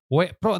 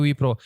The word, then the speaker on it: W-PRO: wpro atau w Pro dibacanya apa nih wipro wipro wipro Oh wipro wepro tapi ditulisnya ya oke dibacanya wipro apa sih wepro atau